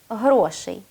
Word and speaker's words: грошей: і кількості грошей і правильного наголосу в цьому слові на другий склад грошей говоріть українською правильно адже